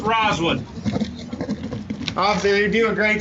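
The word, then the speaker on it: Rozwood: sir i'll spell for it's r o z's and zebra w o o d is in david it's pronounced roswood obviously you do a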